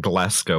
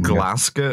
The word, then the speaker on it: Glasgow: i start calling it glasgow which i will never do let's go yeah like glasgow or like different rhymes with tesco yeah yeah i have